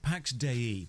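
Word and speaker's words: Pax Dei: only one year later 165 Pax de that's how it's pronounced the developers said so is a Sandbox MMO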